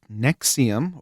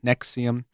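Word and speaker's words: NXIVM: on in this group Nexium um which is spelled like Nvixm something like that and um it was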